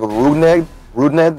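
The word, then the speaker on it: Rougned: I think it's like Rudned. Like as far as like somewhat phonetically, like Rudned.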